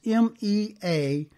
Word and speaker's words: mea culpa: That's M-E-A-C-U-L-P-A. And I believe it's pronounced mea culpa.